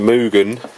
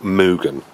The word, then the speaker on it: Mugen: I think it's pronounced Mugen. As in like a cow. Mugen. So not Mugen. What does a cow do? Mugen. Mugen. So it's not Mew. I think it's Moo.